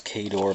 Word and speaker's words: Khador: One, I don't say it right. I know it's Khador, but I say it Khador.